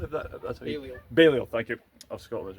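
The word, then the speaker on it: Balliol: King Edward the first of Scotland's coin and King John Balio if that that's Baleo.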